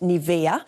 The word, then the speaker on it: Nivea: with it too well here they pronounce it Nia and while the brand